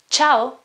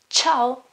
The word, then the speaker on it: ciao: in this case ciao this cha-cha is a quite difficult sound sometimes it's similar to the English CH okay not exactly the same though it's more like okay you have to put your tongue higher and say chit ciao ciao ciao and vowels